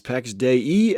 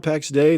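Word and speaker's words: Pax Dei: the last few weeks it's PEX day e and not packs day and now I know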